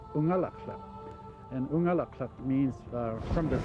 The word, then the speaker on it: Unalakleet: A lot of people think that Unalakleet means where the east wind blows, but the word Unalakleet is actually an Inupiaq word pronounced Unalakleet.